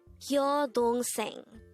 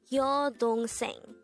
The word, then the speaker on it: 여동생: 여동생, 여동생. This is pronounced as a three-syllable word. The first syllable is yo, second syllable is dong, and third syllable is seng.